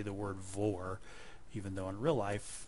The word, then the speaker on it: VOR: say cleared V DME I said Vore almost rhyming with the word for if you try to use VR it will recognize speech